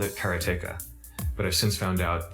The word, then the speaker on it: Karateka: A lot of people say Karateka or Karateka. In Japanese, there's no stress on any syllable, so it would be Karateka, something like that. I called it Karateka, but I've since found